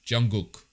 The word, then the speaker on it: Jungkook: oh it's not okay the first K is a g it sounds like a g Jungkook is that how you